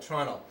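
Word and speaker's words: treenail: a whittled pig called a tunnel which is spelled tree nail but said tunnel so this side timber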